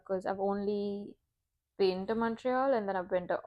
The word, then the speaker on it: Montreal: I mean, even Montreal, the Yeah, pronunciation I would be like Montreal, but it's not yeah, Montreal, it's Montreal.